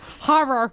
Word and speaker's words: horror: Like, what is going horror? There's no a in it. Stop. It's horror.